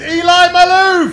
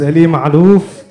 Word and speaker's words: Ellie Malu: I'm gonna say it's Eli My Lou uh thank you thank you good evening my name is Ellie Malu which is exactly not how he pronounced it it's fine I've